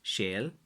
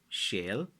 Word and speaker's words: sail: Like how you spell it in Irish language is Sail, which is shale, shale, and then there's an e and a line above it fada ille, which is Éile or Éile, depending.